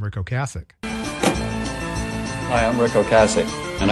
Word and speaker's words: Ric Ocasek: tribute to him but he kept calling him RI oich but then I of course I go on YouTube to figure out how to say his name and in this little video clip he says hi I'm Rico cassic hi I'm Rico cassic